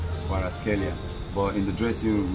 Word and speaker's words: Kvaratskhelia: normally the name is pronounced as Kwaraskelia. Kwaraskelia.